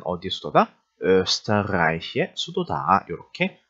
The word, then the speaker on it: Österreich: 그래서 빨리 읽어서 österreich 이렇게 읽으시면 되겠죠. Wien은 어디의 수도다? österreich의 수도다.